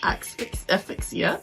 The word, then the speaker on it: asphyxia: its poison constricts muscles, causing death by asphyxia.